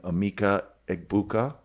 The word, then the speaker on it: Emeka Egbuka: We're definitely drafting Emeka Egbuka. Pronounced that correctly.